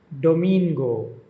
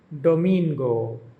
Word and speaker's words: domingo: the only exception being Sunday, which is pronounced with the emphasis on the second syllable.